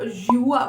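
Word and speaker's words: 西瓜: This is watermelon, but Chinese में इसको युआ बोलते हैं.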